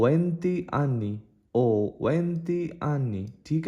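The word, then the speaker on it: ho: मैं 20 साल का हूं तो उसको इटालियन में कैसे बोलो बोलोगे ओ वंती आनी ओ वंती आनी ठीक है हो नहीं बोलोगे इसका एच साइलेंट है ओ वंती आनी वंती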